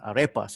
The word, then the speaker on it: Arepas: I mean, as the title of the book says, it's called Red Wine and Arepas. Is that, I mean, how I should pronounce it correctly?